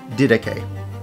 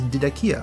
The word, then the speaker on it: Didache: The correct pronunciation, or the most accepted English pronunciation of this book, is Didache. This is good, this is correct, and you can use this term. The other general pronunciation in the English language is Didakia, which is closer to the original pronunciation.